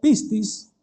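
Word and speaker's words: πίστις: Ahí la palabra fe viene de una palabrita griega que se pronuncia pistis, significa confianza.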